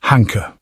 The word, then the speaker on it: Hanke: His name looks like Hank, but everyone pronounces it Hanker.